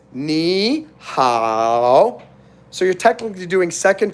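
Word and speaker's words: 你好: Now, technically, ni is 3rd tone and 3rd tone, but when you have 3rd tone and 3rd tone together, that's why on the end, it's going up. So when you pronounce it, it's ni hao.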